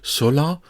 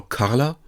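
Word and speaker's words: 空: This one has the pronunciation sola or carla and the meaning sky or open or air.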